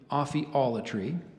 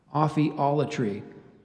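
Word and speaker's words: ophiolatry: among ancient peoples so I gave you that pronunciation of othella tree there's an alternate pronunciation can you repeat the word Aussie all a tree um what's the language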